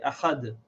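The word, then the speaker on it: أحد: You see, if we stop here, we pronounce this tanween like a sakin. We say Ahad.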